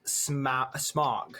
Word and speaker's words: Smaug: It's pronounced smog, like smog in smoky smog.